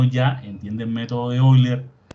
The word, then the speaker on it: Euler: Se pronuncia Euler en francés.